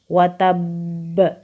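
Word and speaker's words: وَتَبَّ: cara membacanya Bismillahirrohmanirrohim watab khusus di lafadz watab karena huruf banyada tasydidnya maka cara membaca Qalqalah Kubro nya adalah ditahan dulu baru kemudian memantul jadi cara bacanya adalah watab selanjutnya pada lafal bka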